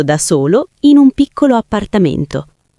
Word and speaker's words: appartamento: Oppure, se vivi da solo o con amici, abito da solo in un piccolo appartamento. Ottima pronuncia sulla parola appartamento. Attento alla doppia P.